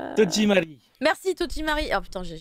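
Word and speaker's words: 戸締まり: Comment ça se prononce Tojimari.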